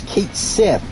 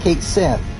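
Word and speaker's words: Cait Sith: they're both bad though there's kate sith which definitely pronounced cake sith also why is he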